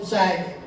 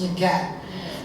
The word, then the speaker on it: Zagat: I called it Zagat. I found out when I did a story for the Society Hill Reporter, the name it rhymes with the cat, so I guess it's Zagat.